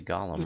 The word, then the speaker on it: golem: Guarded by a clay gollum. It's behind the column. Hey, clay golem rhymes with column.